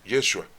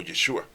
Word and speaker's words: Yeshua: su nombre verdadero es Yeshua o Yeshua. ¿Sí? Bueno, es la pronunciación en arameo, porque después ya tenemos la pronunciación en griego, después en latín y ya después en nuestro idioma.